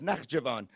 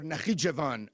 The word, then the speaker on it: Nakhchivan: But you also have this smaller enclave, the enclave of Nakhchivan or Nakhichevan, depending on who is pronouncing it.